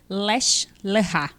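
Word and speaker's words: לך לך: em hebraico correto gente escreve Leste lanchar mas eu ouvir a pronúncia lech lechá mas eu não sei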